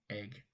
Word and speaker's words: Egg: Yes, it's spelled exactly how it's pronounced. Egg.